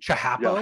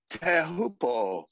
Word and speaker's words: Teahupo'o: Teahupo'o. Teahupo'o. Okay. I think so. I think he throws the glottal stop in there too, though.